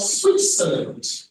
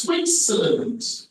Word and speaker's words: Switzerland: Recommendation: pay attention to your enunciation of Switzerland as opposed to Switzerland. When you enunciate it that way, you are enunciating according to the spelling. Phonetically, it is Switzerland, not Switzerland.